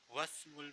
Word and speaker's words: واسم: Whenever there's an alphabet before Hamzatul Wasl, we do not pronounce this alphabet. So here we say Ismul Mudarrisi Saidun Wasmul Muhandisi Khalidun.